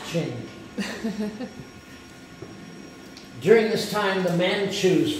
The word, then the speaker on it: Qing: You have then what looks like the Qing Dynasty, but I'm told it's pronounced Qing.